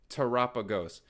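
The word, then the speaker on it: Terapagos: is a banger tagos please say it with me like Galapagos it's tagos the amount of people that can't freaking pronounce tagos like Galapagos it's just tagos tagos tagos teros tagos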